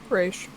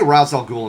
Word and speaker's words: Ra's al Ghul: Actually, Raish. Well, they say Ra's al Ghul in Batman Begins. I know, but it's Raish. It drives everyone crazy.